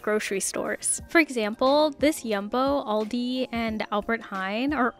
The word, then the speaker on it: Jumbo: okay goodbye this is yumbo which I learned is not in fact pronounced jumbo but yumbo please feel free to